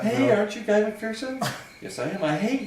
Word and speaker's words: McPherson: It's McPherson. I've been doing it. Yeah, McPherson technically, but I grew up pronouncing it McPherson, pronouncing it incorrectly, McPherson.